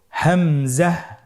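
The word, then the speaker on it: ء: হামজা হরফটি উচ্চারণ ক্ষেত্রে বারিক করে উচ্চারণ করতে হবে এবং এখানে টেনে পড়া যাবে না, দ্রুত পড়তে হবে। আপনারা আমার সাথে বলুন হামজা।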